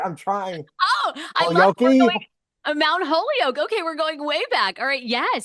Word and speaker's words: Mount Holyoke: uh obtaining your back bachor in history at Mount poo am I pronouncing that's right I'm trying oh Mount Holio okay we're going way back all right yes